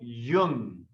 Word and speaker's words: Jung: pronounced the last name it's almost pronounced like the word young carl jung you can try saying